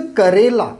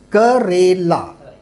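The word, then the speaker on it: करेला: This is a Karela and not Kerala. Kerala is a state of India. That is a Kerala. Is K-E-R-A is Kerala. K-A-R-E means Karela. Okay. So the difference is Karela.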